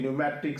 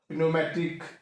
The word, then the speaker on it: pneumatic: Second is that is न्यूमेटिक, सो वी कैन see find out द silent letter, that is P. In psychology, pneumatic, psychiatry, so that is the point to find out the silent letters in the words.